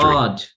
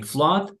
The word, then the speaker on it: flood: Flood. Okay, flood, inundación. Se escribe con doble O, pero no vamos a decir flood. Se pronuncia flood como en la palabra blood.